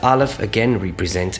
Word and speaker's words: Aleph: The sound of the Aleph is a silent sound. Some people argue that in the ancient world it used to be a guttural stop, like a sound, okay? And this will make sense once we get to the Vowel Point system, where you see, without indicating the vowel sound, the Aleph actually has no sound of its own.